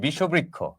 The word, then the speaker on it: বিষবৃক্ষ: আচ্ছা দেখেন, এ হচ্ছে বিষ, তার সাথে আমরা যুক্ত করলাম বৃক্ষ, উচ্চারণটা হবে বিষবৃক্ষ।